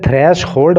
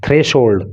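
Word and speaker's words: threshold: एक यहाँ पे आया थ्रेशोल्ड, इसे थ्रैश होल्ड मत पढ़ना। थ्रैश होल्ड पढ़ोगे तो ग्रामेटिक मतलब ये प्रोनाउंसिएशन इसका गलत हो जाएगा। थ्रेशोल्ड, थ्रेशोल्ड इसका मतलब होता है अधिकतम सीमा, ठीक है।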